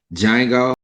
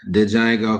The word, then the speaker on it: Django: three is gonna be django not dejango because the d is silent um jamie foxx uh